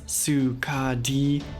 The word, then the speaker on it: Skadi: The Norse name is pronounced Skad-i, and the closest Japanese approximation was Sukadi, and then most English speakers shorten that to Ska-di, so Sukadi, Skadi, or Skadi, take your pick.